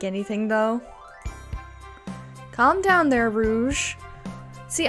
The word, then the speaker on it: Rouge: Calm down there, Rouge. See, I always thought that was spelled rogue, like pronounced rogue, but apparently it's Rouge.